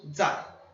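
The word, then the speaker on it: 在: Não é o mesmo zai de zai jian, mas a pronúncia é igual. É o 4º tom zai.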